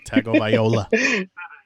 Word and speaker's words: Tagovailoa: Yeah, Tagovailoa. Tagovailoa. Every word, but yeah, every syllable.